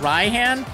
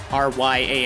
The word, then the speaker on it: Raihan: like you know just rya and it's just an alternate spelling this is not his Japanese name so don't assume that it's a Japanese pronunciation I guess that's probably